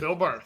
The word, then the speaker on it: Phil Barth: Your name is pronounced uh, Phil Bar. Is that it? Phil Bar.